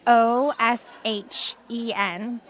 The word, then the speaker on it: ōSHən: ōSHEN is OSHEN.